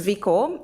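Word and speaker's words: Viko: us your story sure so my name is Vic oh it's spelt CID VI k oh and my the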